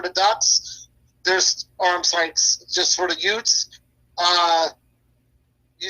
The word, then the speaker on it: Utes: Do you actually pronounce it Utes or Oots? Utes. Utes?